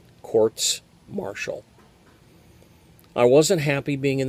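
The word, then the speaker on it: courts-martial: proceedings captains masts and courts marshall and that's the correct pronunciation of the plural quartz marshall i wasn't happy being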